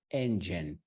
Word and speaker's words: engine: Quando vocês falarem motor, a primeira palavra, a gente não pode pronunciar esse E no final, então vai ser engine, single engine.